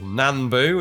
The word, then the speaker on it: Nambu: We're a Nambu Type 14 there, or Nanbu as I'm told we should pronounce it.